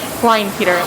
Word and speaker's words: Kleinpeter: Kleinpeter. How do you say it? Kleinpeter, like Calvin Klein, and then the boy's name Peter smushed together, Your Honor.